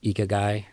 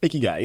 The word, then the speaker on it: Ikigai: I might butcher the pronunciation. I'm really sorry, y'all, but I say it Ikigai. Ikigai, yeah.